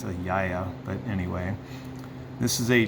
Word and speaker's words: Gaia: It's actually not pronounced Gaia, it's a Yaya, but anyway.